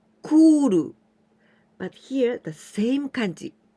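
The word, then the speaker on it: 来る: And 来ます来る. But here the same kanji. 来ます here the same kanji. Here we pronounce き, but here we pronounce く, 来る.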